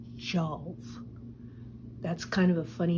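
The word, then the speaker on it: Tjalve: traveling with Loki and a young man called Joe that's kind of a funny name to us in English but it's spelled t-j-a-l-v-e and he was actually from Earth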